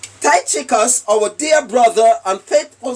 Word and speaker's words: Tychicus: How do you pronounce it? Tychicus, Tychicus.